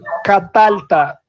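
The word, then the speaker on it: קָטַלְתָּ: Catalta. Lembra? Catalta. Ok? O tá o tá não vale como sílaba forte. Então, catalta.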